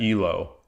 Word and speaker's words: Elo: Elo. Yeah, it's not ELO.